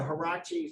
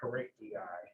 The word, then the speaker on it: Harachi: And bottom line is that these three brothers, the Harachi, some people pronounce that Haraki, but the Harachi, they're pledging to defend their homeland.